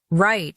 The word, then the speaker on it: write: Write sounds like right.